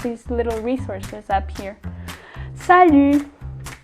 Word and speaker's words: salut: Salut. It's sort of like an ew, but the two vowels go together.